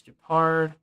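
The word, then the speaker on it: Jepard: Yeah, it's no, it is Japard. You are correct. Am I saying Yangqing right, or is it pronounced something else?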